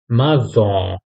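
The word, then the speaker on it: maçon: हम लोगों ने से सेडला लगाए नेक्स्ट है माजो माजो ठीक है माजो मीनिंग बिल्डर जो घर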